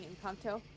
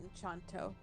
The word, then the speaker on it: Encanto: Yeah, Encanto. it's Encanto, not Enchanto.